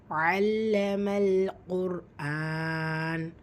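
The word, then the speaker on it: عَلَّمَ الْقُرْآنَ: இரண்டாவது வசனம் அல்லமல் குர்ஆன் அல்லமல் குர்ஆன் சோ ஐனுடைய உச்சரிப்பு லாம்ல அழுத்தம் கொடுக்கணும் அல்லம லாம்சம் சுக்குூன் கமரியா சேர்த்து ஓதணும் அல்லமல் காப் வந்து வல்லின எழுத்து அதற்கான உச்சரிப்பு கொடுக்கணும் தும்மா பெற்று வந்துருக்கு ரா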